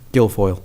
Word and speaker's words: Guilfoyle: How do you pronounce his last name? Guilfoyle.